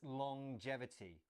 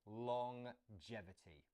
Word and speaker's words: longevity: little bit strange it's longevity so we have the at the end of long as normal but then there's this J sound as well longevity let's look at that